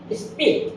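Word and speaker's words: speak: তার নিয়মটা কি, এস এর পরে যদি পি আসে তাহলে এটা অ্যাসপিরেটেড হবে না, হবে স্পিক, স্পাই।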